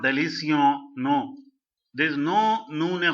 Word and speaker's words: délicieux: Okay, now when you say delicio, this delicio is not having the sound of bon, delicio. No, it is not like that. It is not delicio.